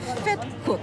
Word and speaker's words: vetkoek: Vetkoek.